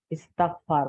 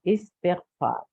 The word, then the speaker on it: استغفار: ہم لوگ اردو میں اس کو اکثر استغفار بولتے ہیں، تو تا سے کے نیچے زیر ہے، استغفار is the correct pronunciation.